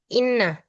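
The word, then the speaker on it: إنّ: Kalau dia di awal kalimat berarti itu bacanya inna.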